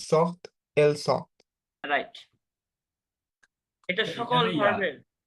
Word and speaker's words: sortent: তাহলে আপনার উচ্চারণটা আসবে টি পর্যন্ত। Ils sortent, elles sortent.